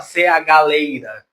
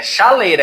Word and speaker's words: chaleira: Vocês estão vendo que aqui tem o CH, só que você não fala CH-leira. É chaleira, é como se aqui fosse um X. O fonema dele é o X.